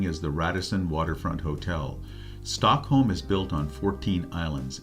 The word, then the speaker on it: Stockholm: of the population of Sweden lives in Metropolitan Stockholm the architecture in Stockholm that's how it's pronounced Stockholm um is quite um neoclassical and